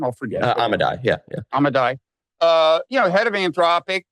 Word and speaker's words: Amodei: Dario Amodei, how do you pronounce his last name? I'll forget. Amodei, yeah.